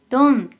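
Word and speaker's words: 貪: 자가 됩니다 자연 자 뜻으로는 발음이 없고 음으로만 돈 돈이라고 발음해줘요 그럼 대표적인 어휘를 먼저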